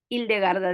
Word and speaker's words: Hildegarda: a la figura de Hildegarda de Bingen. Lo pronuncio de este modo. Hay quienes dicen Hildegard o eh, es indistinto.